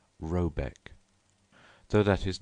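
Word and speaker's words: Rabaek: called r a b a e c k pronounced something like robc though that is not its name it is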